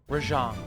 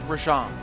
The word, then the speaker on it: Rajang: It's pronounced Rajang, not Rajang.